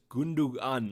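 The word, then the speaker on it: Gündoğan: reminding me that the the second g in gundam gun is silent so i think it's gundugan or something like that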